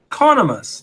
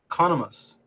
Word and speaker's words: Conomus: if you were to say pros and cons, pronounce the con in my name like that. Oh. Conomus. That's how you say it. Conomus.